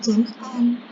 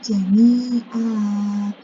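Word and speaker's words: جَمِيعًا: Tapi kenapa tadi saya membacanya jami'ah? Nah, perhatikan di sini ada tanda waqaf hurufnya qaf. Gitu ya. Dimana ini merupakan tanda dia boleh berhenti. Maka jami'ah ini dia tidak dibaca jami'an. Dia diganti yang awalnya adalah tanwin. Kemudian karena posisinya ada di waqaf, maka dia dibacanya bukan jami'an, namun jami'ah.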